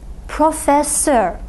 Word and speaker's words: profesör: "e" corresponding to the "i" in the final syllable. Let's look at another example "profesör" which means professor If you want to refer to more than one professor you want to make that plural.